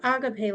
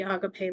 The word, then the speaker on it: agape: type of love the agape love absolutely um so yeah I mean you know Agape uh that's how I pronounce it U I think that's the correct form this comes from the